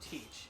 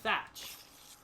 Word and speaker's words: Teach: however in real life his last name is not pronounced teach it's pronounced thatch so his name is Marshall thatch and what's interesting is